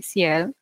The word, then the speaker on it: CL: E vou citar uma artista também coreana chamada CL, Ciel.